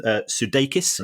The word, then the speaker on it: Sudeikis: I genuinely don't know, but certainly the people involved at Ted Lasso are doing very well, because apparently Jason Sudeikis is that the correct pronunciation?